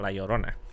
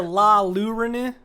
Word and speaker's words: Llorona: The La Llorona. Yeah. God, it still hurts. Why are there so many L's in a word that is pronounced with a Y?